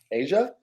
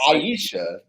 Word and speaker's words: Asia: credit though who's Asia Asia thank you cause Bryce you butchered it you said aishia Yeah there R yeah